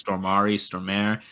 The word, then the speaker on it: Stormare: I can never remember how to pronounce his name. It's Stormare.